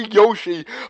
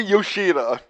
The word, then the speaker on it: Yoshida: And during all like the flashes, I forgot this every time I called him Dr. Yoshi, but his name is Dr. Yoshida. I was one syllable missing.